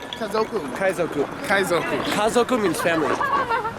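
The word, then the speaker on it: 家族: Kaizoku. Kazoku.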